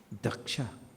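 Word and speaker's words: दक्ष: Daksha. This daksha word, is the smallest word in this whole chapter, but the best. Daksha. 2 syllables.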